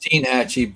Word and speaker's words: Steinhatchee: Steinhatchee. Steinhatchee. That's how you have to say it on the internet. You got to say Steinhatchee. It's actually pronounced Steenhatchee, but it's spelled Steinhatchee.